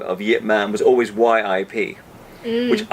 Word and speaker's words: Ip Man: the payoff would be people would say yet rather night rather than Ip Man I mean it sounds